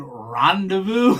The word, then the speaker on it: rendezvous: and uh and he goes do you mean Rendezvous and we started laughing and I thought rendezvous oh yeah I was pronouncing for some reason I just looked one